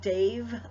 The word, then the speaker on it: Damh: For those of you that are not familiar with his work, Dave the Bard, it's spelled D-A-M-H. It's pronounced like a V. It's Celtic. But Dave the Bard has some wonderful music, and he has songs for all of the Sabbats.